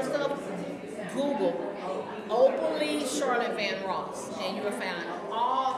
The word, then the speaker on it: Van Ross: They can contact me, just Google Charlotte Van Ross, or they can Google C. Van Ross. And that the way it's spelled is like Luther Vandross without the D.